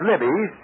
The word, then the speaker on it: Libby's: carry in care of libes Chicago Illinois libes is spelled l i BB Ys you'll be all set for